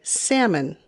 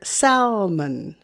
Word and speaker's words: salmon: is even crazier because in the u.s we say salmon but in europe i always hear salmon salmon salmon salmon salmon